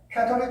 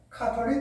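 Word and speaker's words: Catholic: 미국식 발음으로는 캐톨릭 처치라고 합니다. 그러나 영국식 발음으로는 카톨릭 처치라고 이야기를 합니다.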